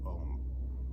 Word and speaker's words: Om: single sound of ohm ohm sounds like one syllable it's actually three things we pronounced because that is where you get the vibration and the sits bones oh you'll feel in your chest and mmm you'll feel resonating in your head inhale full breath